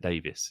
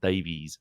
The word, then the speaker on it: Davies: Everybody in Wales calls it Davis. It's not Davies. Davies isn't a name in Wales. It's Davis.